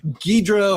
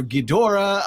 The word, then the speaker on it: Ghidorah: I mean, so many ways of saying Ghidra or Ghidorah. I'm a Ghidra, but someone who might be a Ghidorah, that's fine. I just still, I go back to the beginning where it was Ghidra for me.